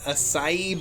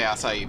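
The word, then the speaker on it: açaí: heard anyone not say acai berry. Well, that's because you've never heard anyone say the word. Well, there's an accent on the C, like a really obvious accent, like a Portuguese accent.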